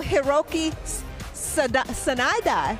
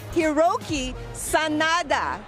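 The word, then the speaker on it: Hiroyuki Sanada: best dressed star of the night and also hroi s Sanada let me do that again hiroi Sanada perfect bro I was working on the pronunciation but he kept it clean and Classic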